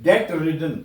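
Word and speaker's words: debt-ridden: the first word is डे रिडन इसको बी नहीं बोलना है आपने बी साइलेंट है बी साइलेंट है ये ये डे है डे रिडन का मतलब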